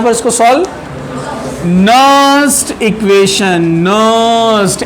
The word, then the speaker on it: Nernst: नर्स्ट equation, नर्स्ट N silent है, नर्स्ट equation.